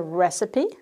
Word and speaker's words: recipe: The pronunciation is the recipe for cooking is a recipe, receipt, receipt.